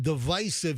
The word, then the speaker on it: divisive: But, you know, we deliberately stay away from divisive. Yes, I say divisive, not divisive.